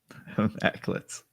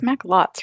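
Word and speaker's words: Macklots: So Justin, I see you type out maclets, but that's not what you say. That's not right. Just because you can type it out doesn't make it. That's not even how it's spelled. So you know it's not how it's said. Maclets. The old maclets. Like it's maclots, right? Am I being stupid? It's maclots.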